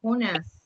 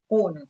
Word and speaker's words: Jonás: Em espanhol, ele tem acento na A, ele muda um pouquinho. Aí ele Jonás. Tá? Em espanhol, não é Jonas, sino Jonás.